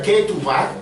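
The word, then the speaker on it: כתובה: Eso en hebreo se pronuncia ketubah.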